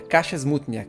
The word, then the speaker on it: Kasia Smutniak: de Maria, na verdade a pronúncia do nome dela, eu fui dar uma olhada, é Kasia Smutnia, Kasia, é assim que fala o nome dela.